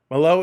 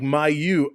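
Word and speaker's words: Mailloux: Malo is like my you.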